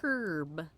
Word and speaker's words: herb: three herbalism herbalism here herb herb we say herb because there's a H in it except that the original pronunciation of the word herb is Herb yeah is Herb